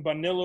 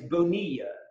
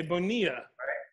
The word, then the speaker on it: Bonilla: it's fast right it's Bonilla the two L's are sort of silent okay Bonilla yes okay so that